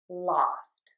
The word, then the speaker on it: lost: Typically, we would think that this pattern would be pronounced with the short O, the ah, and would be oust. We do have this in the word lost and in cost.